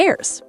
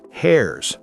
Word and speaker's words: heirs: The rest goes to the heirs. Heirs, not hairs.